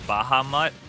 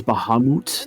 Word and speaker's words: Bahamut: I always pronounced it as Bahamut for a while. Like, you know, Bahamut Fresh. That pronunciation is valid. There's Bahamut. That is also a valid pronunciation.